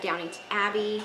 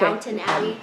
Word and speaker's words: Downton Abbey: then they have Downington Abbey, Okay. Downton Abbey. I say it wrong every time.